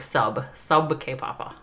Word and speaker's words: sab ke papa: hawkeye told me and he told me it's not sad it's he says you have to say it like sub sub k papa and karn gown get